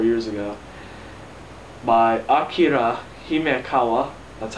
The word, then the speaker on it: Akira Himekawa: By Akira Himekawa. That's how you pronounce it for those people who can't pronounce Japanese.